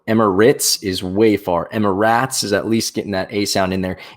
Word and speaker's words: Emirates: most foreign things but it's spelled r-a-t-e-s that's rates where i come from so emma ritz is way far emma ratz is at least getting